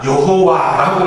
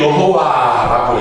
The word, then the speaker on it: 여호와: 표시를 정확하게 안 합니다 그래서 자음만 여호와라고 써놓고 발음은 위에 있는이 모음의 발음은이 아도나의 이 발음을 붙여 가지고 그냥 여호와라고 읽는 거예요 그러니까 정확하게 여호와가 많은지 안 맞는지를 모르지만 그냥 통상적으로 그 아도나이라는 그런 주님이라는 모음을 붙여 가지고 여호와라고 읽고 있습니다 알아두면 상식인 몰라도 되는